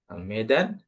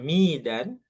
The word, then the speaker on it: Medan: Medan, bukan kita meskipun tulisannya Midan, ya, tapi cara cara bacanya tetap Ana min Medan.